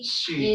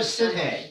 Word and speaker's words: Sidhe: That's why It rhymes with C. I was like sitting there going, People see? usually mix it with Sidhay.